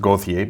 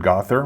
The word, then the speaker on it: Gauthier: bastian the rangers julian gother well it's really pronounced gothia but i heard gother but it's really i would pronounce that gauthier